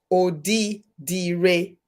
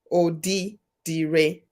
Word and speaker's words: Odidire: So remember what I said about the I? So this will be pronounced Odidire. Odidire.